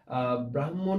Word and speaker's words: ব্রাহ্মণ: করছি এক এক করে অনেকেই আমাদেরকে বলার চেষ্টা করছে যে ব্রাহ্মণ এটির উচ্চারণ হবে এটির উচ্চারণটা আসলে ব্রাহ্মণ হবে আমরা আশা করি তোমরা